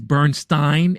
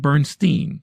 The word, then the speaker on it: Bernstein: was just recently called out that it is Bernstein and not Bernstein. So, I apologize for making that gaff in pronouncing his name.